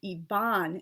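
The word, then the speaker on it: Ivan: a long a when unstressed so for example Yvonne the name on i-v-a-n is Yvonne and Paris b-o-r-i-s is Paris G is always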